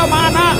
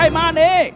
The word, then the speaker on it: มานะ: บอก แล้ว ไง ว่า มัน อ่าน ว่า มานะ ไม่ ใช่ มาเน เจ้า ลูก โง่